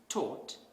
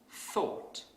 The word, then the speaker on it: thought: So a non-native speaker might pronounce this word as taught instead of thought.